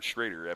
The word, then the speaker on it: Schroeder: I used to have to ask everybody, is it pronounced Schroeder or Schrader? Because of Jay Schrader. Well, you got to ask that every time. But I'm going to go with Schroeder from now on, and someone was going to have to correct me.